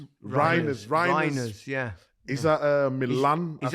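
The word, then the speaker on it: Reijnders: Is that how you pronounce his name? Reinders. Reiners, yeah.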